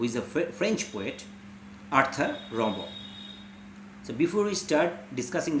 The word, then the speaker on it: Rimbaud: The spelling is Rimbaud, but as he is a French, he's a French personality, so the pronunciation should be Rimbaud.